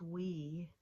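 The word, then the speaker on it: oui: to say yes you say we and it's pronounced we which makes no sense at all well I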